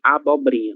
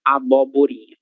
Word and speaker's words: abobrinha: Abobrinha. Não será abóborinha, mas sim abobrinha, certo?